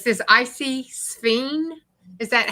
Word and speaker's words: Sphene: It's SPHENE. That's the one I said, the one with the funny spelling. I Yeah. call it I tell you what, Yeah, it's it's like spleen.